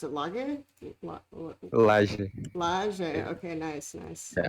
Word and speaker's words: Laje: and i am here with how do you pronounce it lager okay nice nice i like it um who